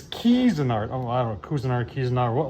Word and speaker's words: Cuisinart: I actually had somebody say that I'm pronouncing Cuisinart wrong. It's Cuisinart.